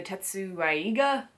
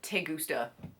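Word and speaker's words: Tessaiga: The Tetsaiga, I called it the Tegusta.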